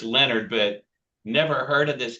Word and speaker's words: Leonhard: Jim Leonhard is how his name is spelled. I'm sure it's Leonard, but never heard of this cat.